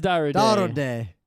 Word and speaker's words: Darude: Should we pronounce it in Finnish or in American? D day. It is dra day.